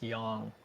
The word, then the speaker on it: Yang: it's a looks like it's spelled yang but it's it's young ok so young yoga and let's get